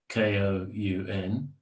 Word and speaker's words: Koun: The first would be Zen, the Authentic Gate by Yamada Koun, Koun, which is 2 syllables.